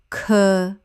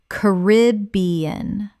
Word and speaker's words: Caribbean: Ca-rib-be-an. Always. Correct pronunciation. Ca-rib-be-an or Ca-rib-be-an. Both are widely used and accepted. The British pronunciation stresses be.